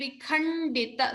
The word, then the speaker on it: vikhandita: So stress on the mahaprana kha and vikhandita. So we saw the na and da even here, akhanda.